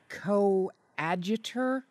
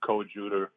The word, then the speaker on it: coadjutor: you be doing as coadjutor Archbishop yeah co- adutor coadjutor coadjutor um it's pronounced correctly both ways I I'm basically got